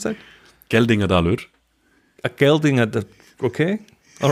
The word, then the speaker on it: Geldingadalur: How do you pronounce that? Geldingadalur.